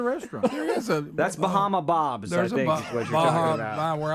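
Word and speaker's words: Barra: me so pointing across it's actually confusing because it's spelled b a r r a but in Portuguese it's B Baha Baha is how you Portuguese it is I think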